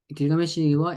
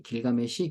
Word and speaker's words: 길가메시: 됩니다 우피 우피 t 길가메시 길가메시 다른 이유는 이제 저는 길가 메시로 발음하는데 이제 앤드류 조지 번역하신